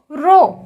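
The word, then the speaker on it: rho: prapushali की constant है रो इसे कैसे प्रोनाउंस करेंगे आर ह ओ रो यह क्या होता है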